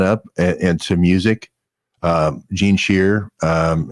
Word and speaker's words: Scheer: Gene Shear, and it's spelled SCHEER, EER, Gene Shear.